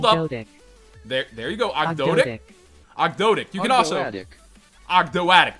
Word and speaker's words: Ogdoadic: Here, we have the pronunciation pulled Ogdoadic. up. There you go, Ogdoadic.